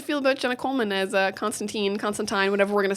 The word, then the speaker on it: Constantine: I believe they did Constantine. They did do Tyne. Yeah, they did do Tyne. Because, I mean, this is a British show, so the British say it as Tyne. Yeah. So they're doing Constantine.